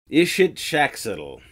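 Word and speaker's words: Ixitxachitl: The actual pronunciation? Erinnyes. Yeah, it's a Greek name of the Furies. Erinnyes. It's a mouthful. Ixitzaxtiddle. Ishitshaxtiddle.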